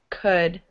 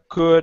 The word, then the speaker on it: could: There's no L. It's silent. So it's like this. Could. Cook is like this. Cook. Okay. So foot is pronounced foot. Foot. Foot. Foot. Could.